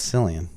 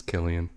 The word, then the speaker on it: Cillian: Nazi Killian mercury yeah they always say Cillian yeah but you say it wrong I thought it was Cillian no it's Killian hmm all right yeah